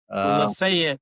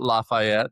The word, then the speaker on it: Lafayette: Did I say it right? Lafayette, that's how you say it. Lafayette, Tennessee. So, yeah. Uh pre-production here. You were setting me straight there. It's not Lafayette.